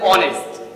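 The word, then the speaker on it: honest: দেখো একটা ভাওয়েল আছে ও, এই ও থেকে উচ্চারণ আমার শুরু হচ্ছে আও, তাহলে এন আওয়ার বল। তারপর দেখো অনেস্ট, এন অনেস্ট।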